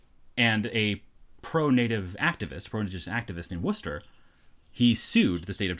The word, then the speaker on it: Worcester: I assume it's pronounced Worcester. It's Worcester. Okay.